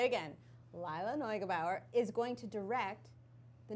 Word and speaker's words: Lila Neugebauer: So Lila Neugebauer. I looked up how to say her name. Say it again? Lila Neugebauer.